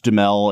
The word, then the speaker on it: Duhamel: I've always heard him say it Duhamel. Like Duhamel. Yeah. Okay, so Josh Duhamel, I believe is how it's actually pronounced.